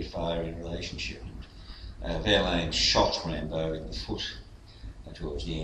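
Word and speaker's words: Rimbaud: And poet Rambo as well as the film Rambo. Yeah, their names are pronounced the same, but they're spelled differently.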